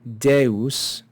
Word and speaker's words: Deus: we have the word Deus and it's important to note here that this is not a diphthong it's two syllables de us we have the short